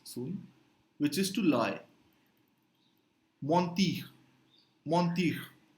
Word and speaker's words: mentir: Mentir, mentir, right? En is on, mentir, to lie. It's the same exact spelling in Spanish, the same exact meaning, but the pronunciation becomes mentir in Spanish.